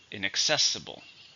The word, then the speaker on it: inaccessible: or get into adjective five syllables stresses on the third inaccessible he tried to unlock